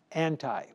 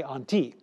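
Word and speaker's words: ἀντί: word i'll say it in with an english pronunciation anti now in greek you would say on t but anyway arcolas was reigning over judea on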